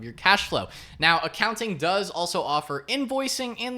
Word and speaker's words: Akaunting: As you can see here, it is spelled a little bit differently, so I guess you would still pronounce it as accounting.